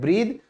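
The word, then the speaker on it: breathe: ठीक है, फिर आप जो सांस लेते हो उसे भी हम क्या कहते हैं, ब्रीद, तो लास्ट वाला ये ई साइलेंट है।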